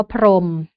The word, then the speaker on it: พรหม: เช่น อย่าง คำ ว่า พรหม นะ คะ จะ เห็น ว่า มี เสียง หอ หีบ แต่ ว่า เรา ไม่ ออก เสียง นะ คะ หรือ ยัง